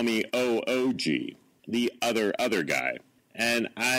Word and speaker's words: Oog: Way to go, or OOG. Thank you for the courtesy call. It's Oog. Right. Oog. If you want to pronounce that correctly.